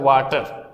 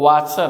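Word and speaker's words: Wachter: पर दिया हुआ है वाटर, इसको वाचर बोलते हैं। क्या बोलते हैं? वाचर बोलते हैं। इसमें टी साइलेंट है यहाँ पर।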